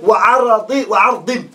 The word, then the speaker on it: وَعَرْض: Then Abi Ma'ali al-Juwayni said, وَعَرْضٍ بِسُكُونِ الرَّاء. That ra has to have a sukun on it.